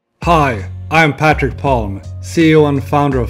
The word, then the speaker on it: Patric: is very weird because it's just patrick but sometimes they want to do something with that c so in your case